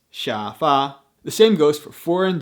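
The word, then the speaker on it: 沙发: original words for example coffee is cafe bikini is bigini and sofa is shafa the same goes for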